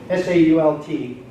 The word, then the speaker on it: Sault: S-A-U-L-T, which they would have pronounced Sault, means rapids or falls.